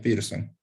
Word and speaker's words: Pearson: pizza ojos se escribe p arzo pero se pronuncia pearson y se representa con la letra r y